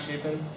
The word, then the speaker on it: Chapin: I forgot to say my name is Matt Chapin and it's like very cheap and Carpenter if